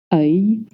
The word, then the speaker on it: œil: Yes, the spelling is O-E-I-L, and the pronunciation is œil, with the same sound that butter. Yes, œil. Œil. You want to make that y sound at the end.